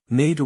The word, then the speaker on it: Nader: Nader was probably pronounced like adder, with a nasal aspirate.